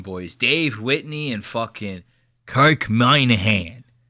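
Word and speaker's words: Minihane: His name is spelled Minnie Hane. And they pronounce it the fucking crazy. They go, my name is Kirk Moynihan. You know what I mean? It's like, dude, spell it like it's fucking, or say it like it's spelled.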